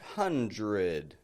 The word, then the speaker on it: hundred: in the past but I'm not pronouncing that D I'm not going 100 but hundred hundred we do this because it's